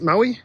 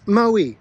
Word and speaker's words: Moe: Bruce, it's Moe? That's what I said. Mo. No, it's Moe, like snowy, but with an M.